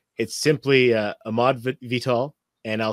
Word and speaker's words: Ahmard: So it's simply Ahmard Vital. And I'll spell that out for those who are listening. It's, if you're on IG or Twitter, it's at @AHMARD. So there's a silent D there.